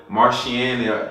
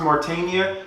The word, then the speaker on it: Mauritania: The thing about it is that I always used to pronounce that wrong, and man, you don't even want to. I used to call it Mauritania. I used to call it Martiania, like something. And then when the first time the person told me how to pronounce Mauritania, I was like, this